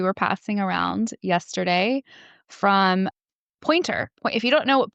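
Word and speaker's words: Poynter: There's a really good article that we were passing around yesterday from Pointer. If you don't know what Pointer is, it's and it's spelled P O Y N T E R.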